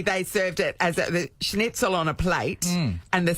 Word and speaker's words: Schnitzel: Schnitzel.